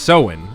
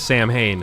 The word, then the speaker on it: Samhain: the middle one so it's pronounced soin instead of Samhain so in phobia and